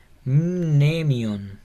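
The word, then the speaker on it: μνημεῖον: Sería Mnemion, Mnemion. Como que se pronuncia la M y la N, Mnemion.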